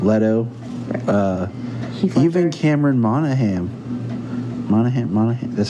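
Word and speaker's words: Monaghan: jack nicholson right leto uh even cameron monahan monahan that's how you say his name yeah uh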